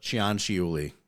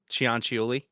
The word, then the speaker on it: Cianciulli: So, by the way, her name is Leonarda Cianciulli. That's how you pronounce that. Cianciulli. Cianciulli. Okay.